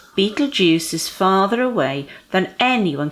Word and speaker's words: Betelgeuse: to you betting betting or okay so you pronounce it Betelgeuse there we are Betelgeuse which sounds like a nasty Halloween punch doesn't